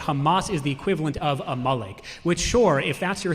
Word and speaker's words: Amalek: It says that Amalek, whatever however you pronounce it, okay, say it again. Amalek. Okay, Amalek.